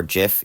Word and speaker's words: GIF: Whether or not you pronounce it GIF or JIF, you're doing it wrong. It's Jif, and I can prove it to you using phonetics and lexicalization.